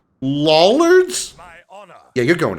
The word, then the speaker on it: Lollard: Lollards? My honor. Yeah, you're going to hell. For honor and glory. To glory. Mine by right. Lollard rhymes with dullard.